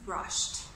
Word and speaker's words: brushed: in the past becomes brushed its regular we put an IDI at the end but the pronunciation is a little different sounds like it's you just like watched brushed okay I brushed